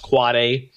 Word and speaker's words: AAAA: AAAA, that's an end device with IPv6, or what we call pronounced quad A.